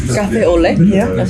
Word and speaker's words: café au lait: He said, café au lait.